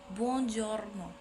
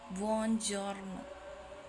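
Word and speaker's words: buongiorno: pengucapan Selamat pagi yang dalam bahasa Italianya adalah bonjorno bonjorno jadi yang keempat ada pengucapan dalam bahasa Italia yang memiliki arti Selamat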